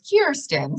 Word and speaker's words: Kirsten: my name by saying well the beginning sounds like ear so it's kirsten so i think of ear and corner of ear so just kind of